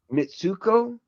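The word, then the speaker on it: Mitsouko: Mitsuko.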